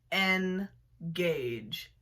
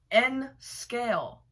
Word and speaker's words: N scale: So without further ado, let's start with the first one, which is people who say engage. Please stop existing. N scale. It's N scale. That's just how everybody says it. It's not engage.